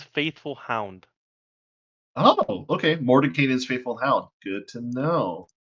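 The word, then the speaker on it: Mordenkainen: have an anime Moment cast fly fly morning Moran kanan's faithful Hound oh okay Mor kanan's faithful Hound good to know as you go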